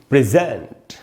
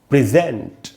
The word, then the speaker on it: present: और यहाँ ज़्यादा रुकेंगे, तो हम इसको पढ़ेंगे प्रेजेंट। प्रेजेंट, क्योंकि यहाँ जो स्ट्रेस है वो जेंट वाले हिस्से पर है।